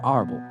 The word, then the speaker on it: Alber: King then told Kaido his real name, namely ALBER. This name has many pronunciations. It can also be mentioned as Arbor or Arbel.